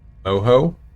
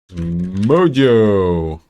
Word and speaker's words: Mojo: Moho? Mojo! Or do you mean the pronunciation?